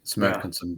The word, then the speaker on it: Smelkinson: It's as you read it, Keith. Smelkinson, buddy.